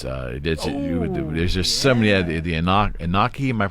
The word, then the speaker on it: Anunnaki: The Anunnaki, am I pronouncing that? Anunnaki. Anunnaki.